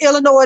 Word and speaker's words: Illinois: It is pronounced Illinois. The S is silent.